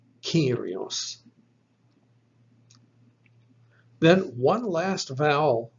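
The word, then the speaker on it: κύριος: So it is spelt with a kappa, epsilon, rho, iota, omicron, sigma. So you'll find the second letter is our epsilon, giving us the E sound. This word is pronounced Kyrios, Kyrios.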